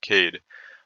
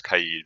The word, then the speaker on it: Kaid: after that we have cade or the proper way to pronounce it i believe is kaid but most people just call him kade and he's basically the